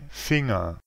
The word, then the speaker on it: Finger: Assurez-vous de ne jamais diviser ce son en N et G. En anglais, c'est finger, mais en allemand, c'est finger.